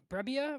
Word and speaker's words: Brebbia: Yeah, no, I mean John Brebbia, right?